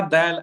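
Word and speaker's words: د: Okay, the letters Ta, Dal, and Ta, okay, are pronounced via the tip of the tongue. So the very very beginning part of the tongue, okay, or the end part if we're making our way downwards, okay, the tip of the tongue, okay, it is pronounced. These three letters are pronounced when the tip of the tongue connects with the roots of the front upper teeth.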